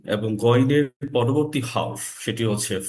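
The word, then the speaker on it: غين: পরবর্তী হরফ হচ্ছে গন গ এর সাউন্ড কিন্তু এটা হবে একটু খরকশ গ এর মত সাউন্ডটা উচ্চারণটা হবে গইন আচ্ছা আমাদের পরবর্তী পড়া আজকের পড়া হচ্ছে আইন এবং গইনের পরবর্তী হরফ সেটি হচ্ছে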